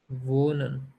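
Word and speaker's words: wohnen: Do Makhan next वन वो नन इसमें एच जो है यह साइलेंट है। लिखने में आपको नजर आ रहा है लेकिन जब बोलेंगे तो ह की साउंड नहीं प्रोड्यूस करेंगे।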